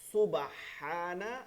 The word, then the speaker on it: সুবহানা: যেমন রুকুতে যে তাসবিহ আছে, রুকুতে থাকিয়ে কি বলতে হয়, সুবহানা হানা হানা, হা উচ্চারণটা ঠিক মতন করতে হবে, রব্বিয়াল আযীম, আযীম ওয়া